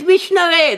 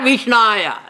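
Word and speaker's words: विष्णवे: The right one is Vishnave. That is the right syllable. Vishnave. Not Vishnaya. He doesn't know Sanskrit. So he says Vishnaya.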